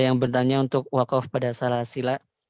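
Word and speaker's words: سلاسلا: Tadi ada yang bertanya untuk wakaf pada salasila. Ya. Wajhul muqaddam atau cara baca yang paling dipilih adalah dengan isbatul alif. Salasila, seperti itu. Karena mengikuti rosomnya.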